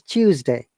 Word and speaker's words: Tuesday: today today is tuesday but in british english we sometimes pronounce this tuesday like cha sound natural okay so in natural